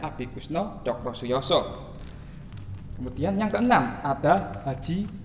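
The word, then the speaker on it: Abikusno Tjokrosujoso: Bacanya Abi Kusno Cokrosuyoso.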